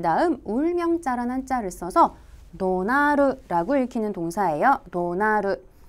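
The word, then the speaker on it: 怒鳴る: 자, 이어지는 복합동사 성낼 노자에다가 그 다음 울명자라는 한자를 써서 도나르라고 읽히는 동사예요.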